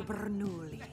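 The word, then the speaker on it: Bernoulli: Francesco Bernouli. No wonder there's a crowd. Wait, why do you know his name? I don't say it like that. It's 3 syllables, not 10.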